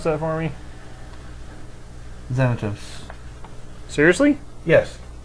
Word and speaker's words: Xanatos: Xanatos. Seriously? Yes. X's are pronounced as Z's when they're first.